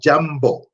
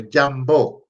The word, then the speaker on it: jambo: And when you hear the word jambo, which means hello, it's ja a ma ba o. So jambo, you begin to understand and be able to pronounce like an authentic Kiswahili speaker.